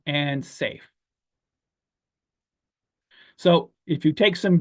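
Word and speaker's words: Saiph: And then we have Bellatrix and Rigel and Safe. So if you take some Betelgeuse, your belly will do some tricks, but if you take some Rigel, you'll be safe, which is spelled S-A-I-P-H.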